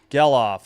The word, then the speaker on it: Gelof: Geloff, G-E-L-O-F. Or Geloff? Maybe Geloff? I have no idea. 0-2. 2 outs. Geloff. I was right the first time.